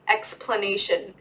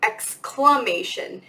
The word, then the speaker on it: exclamation: it's X glama Tori exclamation like to exclaim like exc la I am there's no explaining going on there's no P but people pronounce it like that all the time is the explanation point